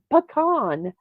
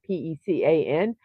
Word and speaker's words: pecan: Ah, so far, with a resounding two-thirds of the votes, a little around, we have pecan as the correct pronunciation of Pecan, not pecan.